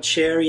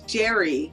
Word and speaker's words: Jerry: said guys it's not Cherry it's Cherry thing so maybe you can tell me how you pronounce that correctly well it's not Cherry it's Jerry yeah Jerry Jerry J Tom and Jerry that's what I tried